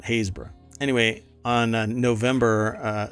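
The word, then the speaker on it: Happisburgh: how it looks yeah it's not it's not Habsburg it was like hayesburg or something uh hayesboro that's at hayesboro anyway on November uh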